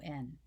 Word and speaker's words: button: So the word button. How do you say that word? My daughter-in-law says button. I say button, button. I press my tongue up against the palate, and then I use a glottal stop, a glottal plosive, or